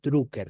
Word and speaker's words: Drucker: se llamaba Peter drer drucker se escribe d r u c K e r drucker Dr Peter drer era